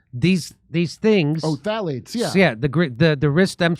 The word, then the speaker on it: Phthalates: Phthalates.